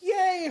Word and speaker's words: yea: Yay is like yay, hooray, woo! But Y-E-A is yay as in yes.